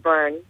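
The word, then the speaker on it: Byrne: e right that's correct it's pronounced Burn yeah burn b y r n e Ashley thank you so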